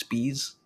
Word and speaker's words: Spees: And it's because of the people's last name is Spees. And it's just like, did you let your last name influence what you do for work? You're just like, my last name's Spees, rhymes with bees.